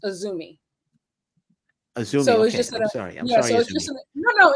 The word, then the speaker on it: AZM: just so like it's spelled azm but it's pronounced aumi AUM Sor just no no it's fine it's